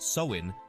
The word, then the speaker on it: Samhain: rich and fascinating history the Celtic Festival of samun is at the heart of Halloween's Origins samun pronounced soin marked the end of Summer and the onset